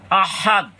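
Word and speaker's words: أحد: হামজা এইখানে লম্বা হা মূলত দালের সাথে এটাচ উচ্চারণ হবে আহাদ আহাদ এখানে গোল হায় এর উচ্চারণ করা যাবে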